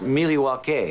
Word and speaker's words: Milwaukee: Isn't Milwaukee an Indian name? Yes, Pete, it is. Actually, it's pronounced Miliwake, which is Algonquin for the good land.